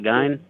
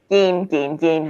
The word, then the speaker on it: Gein: Isn't it pronounced Ed Gein, not Gein? Gein. Yes, you're right.